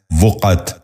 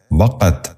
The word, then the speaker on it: وقت: غور سے سنیے، وضو۔ پانچواں لفظ ہے وقت۔ یہ غلط تلفظ ہے، درست تلفظ ہے وقت۔ دوبارہ سنیے، وقت۔ بچوں